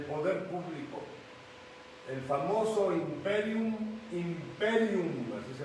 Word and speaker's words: imperium: o investidas del poder público el famoso imperium imperium así se pronuncia Estatal ya nos referimos a todo ello